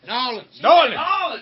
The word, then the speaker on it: New Orleans: You gotta say it right. Nolans. Went to Like Nolans.